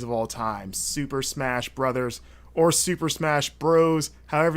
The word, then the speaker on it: Bros: And for the record, it's Bros, and I will accept no other pronunciation of the title of a Super Smash Bros. Game.